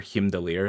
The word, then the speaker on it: Heimdall: They talk about this character several times in the stories of Loki, Thor, and Hela, but Heimdall, or Himdalir if you want the real pronunciation, is very likely to be joining us in this game.